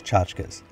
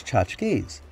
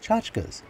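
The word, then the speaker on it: tchotchkes: moment and say that you might not like the way i pronounce chachkas you might think that the word is chochkies but my european grandmother used to say chachkas and she spoke yiddish so she would know so it seems to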